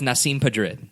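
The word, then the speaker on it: Nasim Pedrad: Also, I feel like I'm going to need help pronouncing her name again. Nasim Padrid. As far as I know, it's Nasim Padrid.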